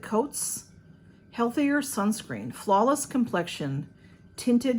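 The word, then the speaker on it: Cōtz: and then this um it's c-o-t-z coats and they have a a line over the O so I would pronounce that coats healthier sunscreen Flawless complexion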